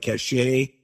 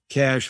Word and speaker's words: Cache: So it looks like cachet, but it's pronounced Cash Agency.